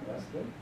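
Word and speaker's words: ἐστίν: And so, esten, there's our accent that says, let's put an emphasis on the last syllable, esten.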